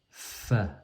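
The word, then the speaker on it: ف: Ensuite on a Fa. Le Fa, c'est comme le F du français.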